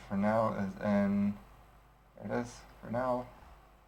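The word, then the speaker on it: Fresnel: is in it is for now it's also called frel but I'm pretty sure the actual pronunciation is is um for now uh 1.45 will probably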